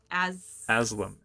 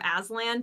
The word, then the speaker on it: Aslam: Aslam. A-S-L-A-M. I keep overcorrecting from Aslan to like some other name that's not right, so I'm all over the place with it.